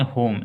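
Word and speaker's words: home: इसको बोल देंगे होम। एच से ह होता है, ओ से ओकार, एम से म, ई से उच्चारण नहीं होता है ई का, ठीक है, इस बात को ध्यान दें।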